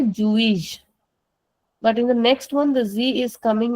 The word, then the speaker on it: juiz: And when any word ends in the letter Z then the sound of that Z the last Z is very soft. So we say Jewish.